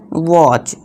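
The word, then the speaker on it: watch: अब टी के बाद क्या है, सी एच है, तो इसे क्या पढ़ेंगे, वॉच। ठीक है दोस्तों, वॉच। तो यहाँ टी क्या है, साइलेंट है।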